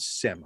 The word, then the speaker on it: SiM: does it they're called sim i believe that's how you pronounce s i am and they've done this